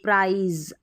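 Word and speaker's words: prize: ये वाला प्र आइज प्राइज आई पढ़ेंगे यह जो आई है ना इसका ई भी होता है आई भी लेकिन लास्ट में ई है ना इसलिए हम इस आई को आई पढ़ेंगे फिर देखिए प्र एंक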